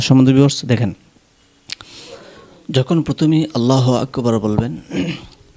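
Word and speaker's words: الله أكبر: আলিফ টান হাফে সহ আল্লাহু আক হামজা কাফ জবর আক আক বারা জবর বার রাটাকে মোটা করতে হবে এভাবে আল্লাহু আকবার আল্লাহু আকবার আল্লাহু আকবার সেমভাবে বলতে হবে এভাবে আল্লাহ আল্লাহু আকবার।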